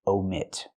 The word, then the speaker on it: omit: But for words in a sentence, you omit. Use the long O like no and go.